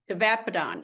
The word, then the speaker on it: tavapadon: How do you pronounce it? Tavapadon? Tavapadon, yes, tavapadon.